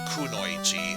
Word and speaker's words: kunoichi: it's um I guess some could pronounce it kanoichi I personally prefer kunoichi and considering I have at